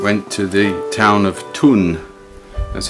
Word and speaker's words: Thun: family and um went to the town of tun that's how you pronounce it t-h-u-n here's a little uh